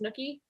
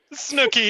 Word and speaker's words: Snooki: that I participated in, but I believe it's Snooki. Snooki is correct.